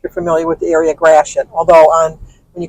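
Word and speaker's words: Gratiot: which is if you're familiar with the area graet although on when you call information they call it grat it's French g r a t i o t but it's pronounced graet my kids loved it because we live by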